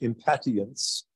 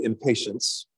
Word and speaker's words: impatiens: It's one of the properly pronounced impatiens, but we would say impatience if you saw it.